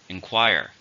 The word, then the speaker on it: inquire: this is a verb how many syllables are in enquire 3 stress in a second inquire we have a student